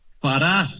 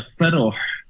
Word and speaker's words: Farah: Farah, se pronuncia Farah. Bueno, si lo voy a decir en árabe sería Feroh, pero decimos Farah, ¿ok? Termina en H, entonces queda como Farah.